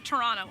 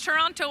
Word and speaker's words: Toronto: that okay well I I have friends that say Toronto and I just don't understand there's a tea in there then and I have to pronounce Tera it's Toronto and always will be to me but we're here